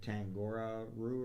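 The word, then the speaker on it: Tangaroa: Yeah, I can't, Tangora Roo or whatever. Kangaroo, yeah. It rhymes with kangaroo.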